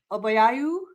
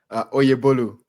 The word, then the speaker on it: Oyebolu: This is my first human connection through LinkedIn video, and I've been following Obayayu. Am I saying it right? Oyebolu. Oyebolu.